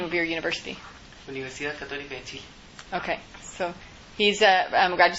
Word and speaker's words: Universidad Católica de Chile: Remind me how you pronounce the name of your university. Universidad Católica de Chile.